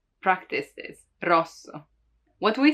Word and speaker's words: rosso: R, R, it's rolled, right? R, R. You have to make it vibrate. You don't have to prolong it too much, rosso, but it still has to roll, rosso.